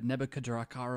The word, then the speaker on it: Nebuchadnezzar: all sorts of cool stuff here you know Nebuchadnezzar is no joke in his own right his name apparently is a mixture of names you could pronounce the different ways to nebuchadrezzar ah and nebuchadrezzar but it's composed of the